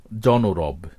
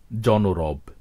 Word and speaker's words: জনরব: অই থেকে যায় যেমন জনরব এখানে শুরুর অটি অই থেকেছে ও বা ওকারের মত হয়নি মনোসিলেবল শব্দ যেভাবে আমরা